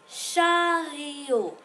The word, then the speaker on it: chariot: Dans le chariot. Le T ici est muet, qui veut dire qui ne se prononce pas. Chariot.